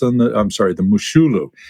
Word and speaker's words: Moshulu: and he runs past a ship called the Moshulu. So, Mar Jose, you might remember this little tidbit, but any uh any thoughts on the I'm sorry, the Mushulu, it's pronounced.